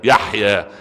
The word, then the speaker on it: يحيى: اسمه يحيى يا ابني، في فتحة، ربنا يفتح لك بصيرتك يعني إن شاء الله، في فتحة على الياء يحيى، يتسمي اسم صحيح وتنطقه اسم صحيح يا الله الغني، خلاص يحيى خلاص تمام كده.